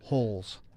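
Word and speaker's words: Holz: H-O-L-Z. There's no T, right? H-O-L-Z. So there's no T, which tells you that, that it's holes.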